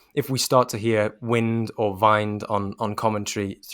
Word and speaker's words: Wind: do the honors well i believe it says uh vind but you can never really know with these uefa pronunciation guides they can tend to be a little bit a little bit dodgy but we'll go with vind i think we'll go with jonas vind and and if if